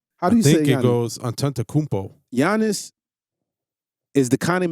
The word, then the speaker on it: Antetokounmpo: it goes Antetokounmpo.